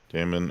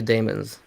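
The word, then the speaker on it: daemons: yeah knowing joe i assumed the same thing damon and freedom by who was it daniel suarez daniel suarez i will give those a check how do you pronounce the doctor who studied the demons damon demon damon because it's written as uh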